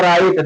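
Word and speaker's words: write: समझ में आया तमाम ऐसी चीजें हैं जैसे पढ़ा लिखा हो तो राइट डब्ल्यू आर आई टी ए राइट राइट लिखा होता लेकिन पढ़ा जाती राइट पढ़ा जाती राइट डब्ल्यू साइलेंट तमाम तमाम ऐसी चीजें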